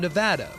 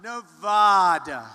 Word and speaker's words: Nevada: Trump campaigning in battleground nevada nevada nobody says it the other way it has to be Nevada right and if you don't